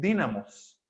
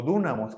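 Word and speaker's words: dýnamis: De hecho, la palabra griega utilizada aquí es dínamos o dúnamos, como también se pronuncia, que tiene que ver, o de donde viene la palabra que nosotros traducimos como dinamita.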